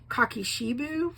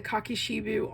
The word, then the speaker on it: kakishibu: at the moment but if you look up cocki sheu which which is spelled um k a k i s h i bu U you will find people using this you can also buy the cocki shiu on eBay and Amazon and if you are